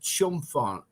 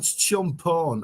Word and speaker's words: Chumphon: the chat skeptic frog it's pronounced chum fun it's called champon okay jump on okay